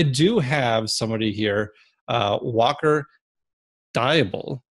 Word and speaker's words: Deibel: But I do have somebody here, Walker Deibel, right? Deibel. I've been pronouncing it Deibel for a while.